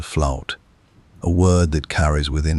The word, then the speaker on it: fluyt: It was called the fluid, pronounced in the old Dutch tongue, something close to flout, a word that carries